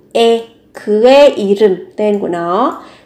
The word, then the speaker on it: 의: Thì các bạn sẽ có từ 의 này, khi nó là sở hữu, nó mang nghĩa là của ấy, thì được phát âm là thành e.